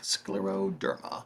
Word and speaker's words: Scleroderma: Scleroderma.